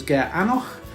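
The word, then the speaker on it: Gearr Aonach: is called ben fada middle one hope is ger anoch and the last one charity is anak do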